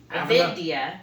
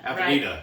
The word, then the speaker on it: Avenida: And I always butcher the name. I call it Avendia. I call it Avendia, but that's not the way they said it when I called in. Avenida. Avenida. It's Avenida. Yeah, makes sense.